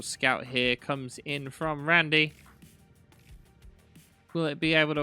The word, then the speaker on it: rAndy: get it right and he did confirm that it was uh he saw it as being pronounced as Randy so that's what we'll